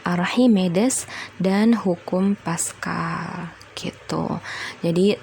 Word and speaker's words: Archimedes: yang kedua tekanan archimides bukan Archimedes ya tapi dibacanya archimides dan hukum Pascal gitu